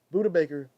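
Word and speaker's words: Budda Baker: good he's all right I was pronouncing the name wrong my bad yeah Buddha Baker shoutout to the man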